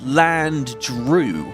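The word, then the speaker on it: Dreugh: Okay, I'm just going to get I have always said land Drew. It's like D R E U G H. To me, that's Drew. I've always said Drew.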